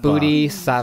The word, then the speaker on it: Bodhisattva: Bodhisattva. Yes. I Yes. keep looking at the paper. It does not. With You your- do not say it like it's spelled.